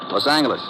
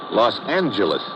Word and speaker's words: Los Angeles: moved out to California Los Angeles correction Los Angeles oh yeah soft G it's official now so